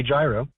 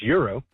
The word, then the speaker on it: gyro: you pronounce it because in America we say gyro which you know considering that that is a Greek prefect I think it makes sense and I when I speak to my Lebanese friends they say gyro and then I'm pretty sure in Greek it's it's Euro but if that is